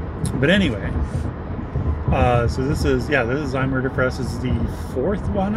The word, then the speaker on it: Zymurderfest: Well, oh, it's called Zymurderfest? Yeah. Oh, oops, I've been saying it wrong. Anyways, yeah, Zymurderfest.